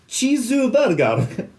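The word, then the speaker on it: チーズバーガー: So when I go for dinner with Rob and he orders, he's like, Chizu burger. And I know why he's doing it, because that's how you say it, but it just sounds like he's taking the piss.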